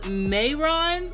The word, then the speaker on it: Mehron: is by i really i think it's pronounced meiron or may make this is a really